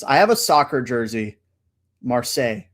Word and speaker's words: Marseille: Marseille. I believe that's how you pronounce it, the French way.